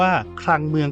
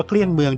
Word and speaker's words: เกลี้ยงเมือง: ฟัง อีก อย่าง นึง การ ออก เสียง คำ ว่า เกลี้ยง เมือง ตาม แบบ ภาษา ของ ชาว แคร ขโมย เขา อาจ จะ อ่าน ว่า คลัง เมือง ก็ ได้ แต่ คน ไทย อย่าง แอด เนี่ย ออก เสียง ยาก เอา เป็น ว่า แอด ออก เสียง ว่า เกลี้ยง เมือง ดี กว่า ง่าย ดี และ ใน วัน นี้ แอด